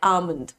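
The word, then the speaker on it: almond: going to pronounce it एल को silent करेंगे बादाम को अंग्रेजी में कहते हैं आमन ठीक है आमन ओके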